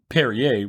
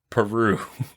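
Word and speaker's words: Perrier: yeah you're right and the drink perier which she pronounces Peru which isn't in France no at all um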